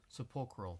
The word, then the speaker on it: sepulchral: I Is that think pronounce that word? sepulchral. Sepulchral, thank you.